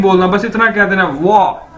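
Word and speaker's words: 我: तरह से बोलना है, जिस तरह से आप बोलते हैं वाओ, आप कहते हैं ना वाओ, तो इसी तरह आपने वो जो लास्ट वाला ओ है उसको नहीं बोलना, बस इतना कह देना वाह।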